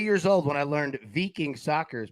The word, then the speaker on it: Viking: You pronounce it veing. Yeah. Yeah. No, no, that's a good job, man. I like it. Yeah, I had to humble myself after thinking it was Viking for many years uh recently.